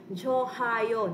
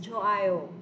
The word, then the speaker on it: 좋아요: Right here, class, this one, this is silent. Hawa na ni siya sound ang hiyot. So don't say 좋아요. No, it's 좋아요.